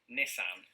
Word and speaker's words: Nissan: not a sponsored video nissan that is the silliest pronunciation is it look it begins with niss nissan which you know